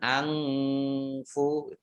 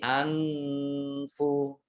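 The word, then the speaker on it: أَنفُ: Nah, ini kembali saya ingatkan, ikhfa itu jangan pakai eng, ya. Jangan angfu, tapi anfu, ya. Dibacanya apa? Ya. Tidak ya antara en dan eng gitu ya, tapi jangan tanpa engnya.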